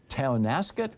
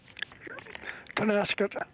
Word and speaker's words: Tonasket: Paul in Tonasket, Washington. Am I saying it right? Tonasket.